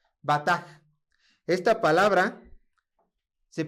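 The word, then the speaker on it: בטח: Viene de esta palabra que prácticamente es una B, una T y una H, pero más o menos se pronunciaría de esta manera. Bataj. Bataj.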